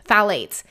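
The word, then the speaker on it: phthalates: skip the other thing Fates and that is spelled p h t h yes p h t h a l a t s phades you want to skip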